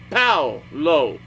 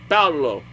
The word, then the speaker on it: Paolo: It's like, how do you pronounce this? She's just like, Paolo. Like, Paolo.